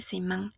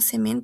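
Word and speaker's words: semaine: Ya no va a ser semán, sino semen. ¿Por qué? Porque este sonido de la n pasa a la e.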